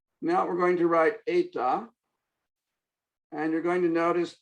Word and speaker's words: eta: So it looks closest to the English in, but forget in, it's not an in, it's an eta, and it is pronounced like a, as close as you can.